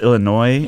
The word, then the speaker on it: Illinois: Illinois is pronounced Illinois, and it Yeah. should be pronounced Illinois. Uh-huh. Because there's that S, so I want to give it that S.